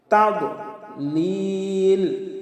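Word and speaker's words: تضليل: তাদলিল, আমরা অনেকে পাঠ করি তাদ, দদকে দাল বানিয়ে ফেলি। এটাও আমাদের মারাত্মক ভুল। তাদলিল, লিলে 3 আলিফ টান হবে। তাদলিল। আলাম ইয়াজআল কাইদাহুম ফি তাদলিল ওয়া আরসালা আলাইহিম, আমরা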